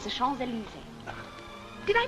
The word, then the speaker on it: Champs-Élysées: It's the Champs-Élysées. Did I pronounce that nicely?